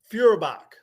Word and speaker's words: Feuerbach: How do you pronounce it? Feuerbach.